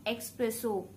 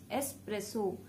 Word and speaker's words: espresso: The first one that I have for you is espresso, not expresso, espresso.